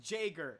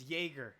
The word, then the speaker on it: Jaeger: trap okay we are not gonna go like JEA ger is pronounced Jagger okay this is not it's Jaeger okay so we need